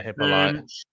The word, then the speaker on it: Hippolyte: Is that Miles Hippolyte? Is that how you pronounce his name? Yeah, Hippolyte.